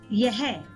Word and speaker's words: यह: In Hindi, we say यह. In everyday spoken Hindi, you will often hear it pronounced as ये.